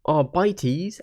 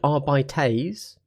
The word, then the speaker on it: Arbites: However, I do know that Arbites and Arbites are both valid ways to potentially phrase it. And if you think over to Custodes, you know, Adeptus Custodes, the way you pronounce Custodes or Custodes is the same way that you would pronounce Arbites or Arbites. So if you say Adeptus Custodes, then you should say Arbites.